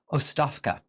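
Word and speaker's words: оставка: Like I said, it looks to our English-speaking Western eyes like Ogtabka, but I think it's pronounced Ostavka. Resign.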